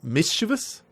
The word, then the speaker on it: mischievous: I believe that's pronounced mischievous? Mischievous with the accent in the first I, but I am not entirely certain about it.